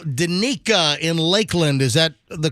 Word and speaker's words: Danica: Danica in Lakeland. Is that the correct pronunciation?